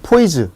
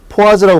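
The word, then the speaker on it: poise: g/cm 세크라는 단위도 중요하지만 그것보다 더 중요한 거는 점성계수인 단위에는 이 단위를 줄여서 보통 포이즈 또는 포아즈라고 발음을 하는데 이 단위를 쓴다는 걸 알아두시고, 마찬가지 온도 증가에 따라서 감소하고 동점성계수, 요건 점성계수야.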